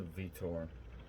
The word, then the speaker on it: Vitor: There's a Vito. It's a Vitor, but I soft R. Soft R. Yeah, that's how they say it down there. Soft R. It's the way. They don't really emphasize the R.